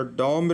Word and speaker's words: dumb: तो डम रे कोन साइलेंट अछि, DUMB, एटा बी साइलेंट अच्छी।